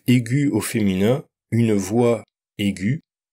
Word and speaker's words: aiguë: Même chose avec l'adjectif aigu au féminin, une voix aiguë, avec un tréma pour qu'on entende le U.